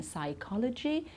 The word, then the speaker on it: psychology: beginning of certain words we don't pronounce the P in psychology psychiatrist pseudo okay so we don't